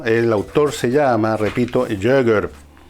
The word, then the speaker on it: Jaeger: Y el libro, el autor se llama, repito, Jäger. Se pronuncia así, pero se escribe Jaeger.